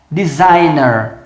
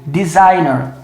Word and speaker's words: designer: que ser verde então essa palavra aqui é designer ó designer tá o g é mudo designer que iam designer em